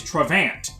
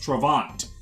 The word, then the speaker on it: Travant: all I've got is trevant which doesn't even work because his name is pronounced travant so uh uh I've